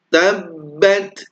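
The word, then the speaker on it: تَبَّتْ: Tabbat yada abi lahabin wa tabb. Nah, di sini ada tasydid yang pertama ya. Tabbat. Kalau di awal kita tahan, maka di akhir pun juga harus ditahan.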